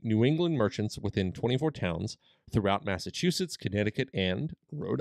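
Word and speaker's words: Townshend: town send acts and it looks like it's pronounced town but it's actually towns and it's a british name yeah so it's passed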